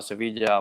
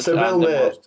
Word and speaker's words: Sevilla: But Richard knows in the south, Cordoba, Sevilla, Malaga, and all these places. This is the Spanish pronunciation, by the way. So you know, I have so much. Seville, Malaga.